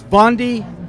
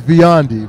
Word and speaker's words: Biondi: So, it's Bondi. So it's Give me, talk to me. I got you. So it's Biondi. So I mispronounced it.